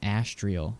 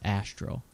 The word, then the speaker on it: astral: So I guess what I'm trying to say is like I keep saying Astrial and that's not how you say it. It's Astro.